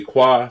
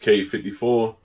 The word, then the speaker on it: Quai 54: air jordan 5 k 50 some people say qua some people say kate you know i know it's pronounced k-54 and it's because of the basketball tournament that